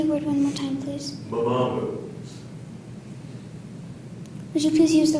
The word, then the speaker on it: mamamu: The word is mamamu.